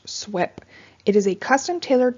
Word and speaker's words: SWP3: the okr-10 general permit swp-3 is the abbreviation for stormwater pollution prevention plan or pronounced swep it is a custom